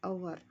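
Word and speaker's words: hour: the airport an आवर एच क्या है यहां पे साइलेंट है इसीलिए यहां पे एन आया क्योंकि प्रोनाउंसिएशन तो ओ का हो रहा है अवर अवर यश तो यश का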